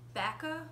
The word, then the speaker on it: Bacca: But my very favorite is, it's very similar to what I'm wearing, and it's called Bacca, B-A-C-C-A. I believe that's how it's pronounced.